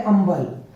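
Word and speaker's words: humble: means होता है सम्मान एच य एम बी एल ई यहां पे एच के बाद में यू अ वो वल आया है इसी वजह से ए साइलेंट हो गया यह होता है अंबल और एओटी में जो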